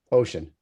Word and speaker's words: OSHEAN: are we we are ocean um and to dispel some confusion right off the bat uh our name is pronounced ocean like the ocean like the state like two thirds of the planet we're not egotistical enough